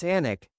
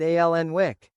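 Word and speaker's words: Alnwick: When we started the Anic Garden, no journalist could pronounce Anic." They all said alenwick.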